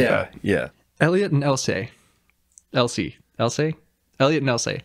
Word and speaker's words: Elsie: He says Essie. Essie. Elliot and Essie. But it's spelled like E-L. Yeah, we had the subtitles on this time for the first time. And it's spelled E-L-S-I-E. But it's like Essie.